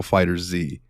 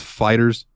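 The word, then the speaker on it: FighterZ: ] pronounce this game I call it Dragon Ball fighter Z is it just Fighters it is just Fighters it is just Fighters I always thought it was fighter Z too dude fighter Z sounds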